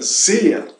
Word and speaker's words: sehr: E em segundo lugar, a R final se pronuncia como se fosse uma A, né? Então, como ocorre com o artigo dea. Portanto, zea se pronuncia zea. Porém, cuidado com a S, ya que se trata de uma S muito suave, com o zumbido de uma abelha lejana, uma abelha ligeira.